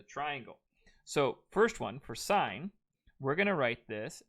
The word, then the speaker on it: sine: okay it is not sin you pronounce this as sign as in like i saw the sign or the stop sign though it's not spelt